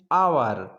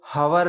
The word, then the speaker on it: hour: जैसे कौन से वर्ड, फॉर एग्जाम्पल के लिए जैसे एन आवर, इसको अपन पढ़ेंगे HOUR, इसको हवर नहीं पढ़ेंगे, इसको आवर पढ़ेंगे, आवर, एन आवर।